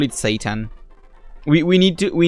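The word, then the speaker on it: seitan: S E I T A N is Satan.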